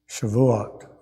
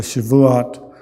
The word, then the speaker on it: Shavuot: It's traditionally read in the synagogue on Shavuot, I believe is how that's pronounced.